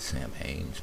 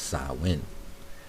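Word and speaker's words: Samhain: I guess Sam ha samwin s sawin not Sam hannes pronounced sawin sawin sawin so in Irish pronunciation son is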